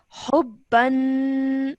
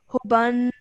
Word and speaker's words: حبا: I'm going to say hubban rather than hubban. Okay, I'm joining the ha to the ba with force.